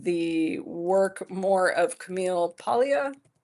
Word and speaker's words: Paglia: I actually resonate with the work more of Camille Paglia. It's spelled Paglia, but she says Paglia.